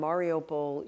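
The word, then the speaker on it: Mariupol: predict it is and the way it's pronounced is mariopl and mariopol you have seen they've locked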